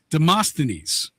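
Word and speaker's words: Demosthenes: of speech came from the great Greek orator Deamastines. Look at you pronouncing that right.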